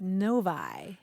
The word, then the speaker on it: Novi: that he lives in is spelled no oovi any thoughts about how you might well I don't know na'vi or Novi it seemed like The Logical ones but what is it Novi noi isn't that weird